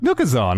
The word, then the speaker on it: Nookazon: do you pronounce it look new Kazan like Amazon why hang on Kevin